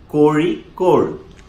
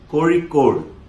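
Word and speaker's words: Kozhikode: spelled K-O-Z-H-I-K-O-D-E, and it's pronounced, well, I can't pronounce it, so I got a friend to say it for me. Kori-Kor. Yeah, that. Kori-Kor.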